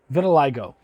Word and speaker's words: vitiligo: loved this as well this gentleman has vitalig vitiligo i had to look it up to make